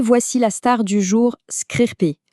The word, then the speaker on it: scrcpy: Et voici la star du jour, Screencopy, qu'on prononce Screen Copy.